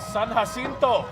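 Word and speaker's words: San Jacinto: San Hasinto. Say it right with respect.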